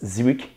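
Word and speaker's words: Zwicky: Na década de 30, o astrônomo suíço Fritz Zwick, que é assim que é a pronúncia, tá?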